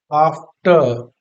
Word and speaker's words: after: वैसे अब आगे क्लास में आप लोग जाओगे तो ये आप सीखोगे कि अगर आफ्टर लिखा है तो इस आर का प्रोनाउंसिएशन नहीं किया जाता है। इसको पढ़ते हैं हम लोग आफ्टर, आफ्टर, ठीक है, आफ्टर।